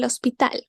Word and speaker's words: hospital: from the alphabet because you know the H is silent when we have El because it's masculine and singular you can see we kind of said all at once like El Hospital like the El because